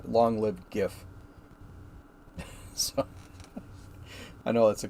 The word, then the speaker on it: GIF: dead L long liveed GIF so I know that's a contention among a lot of people yeah it's JF yeah got bomb no it's not it's GIF it's a hard G hard G forever so anyway um so